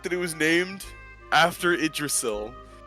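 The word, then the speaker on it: Yggdrasil: Despite Despite the fact that it was named after Idrasil. Oh, I pronounced it. I'm disappointed by the fact that you pronounced it Yiddrasil.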